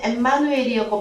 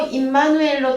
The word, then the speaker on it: 임마누엘: 그래서 410번과 6005번을 같이 보셔야 되는데 임마누엘 그러면은 우리는 주로 헬라어에서는 엠마누엘이었고 발음이 우리는 주로 임마누엘로 통용되고 있죠. 그러면 히브리어 발음입니다.